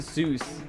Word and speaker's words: Seuss: Seuss. You pronounce it Zeus.